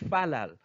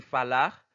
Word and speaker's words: falar: C'est-à-dire, ça fait nous dire falal. Pas oublier que nous te dit qui j'en ka prononcer R, il y a deux zones qui prononcent falar et il y a deux zones qui prononcent falal.